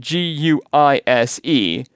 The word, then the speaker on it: Guise: This family was the Guise family, spelled G-U-I-S-E, but pronounced Guise.